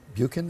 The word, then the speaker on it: Buchan: There's a character, B-U-C-H-A-N. Buchan, how do you pronounce it?